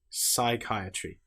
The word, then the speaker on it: psychiatry: Psychology. Psychiatry. The P is completely silent.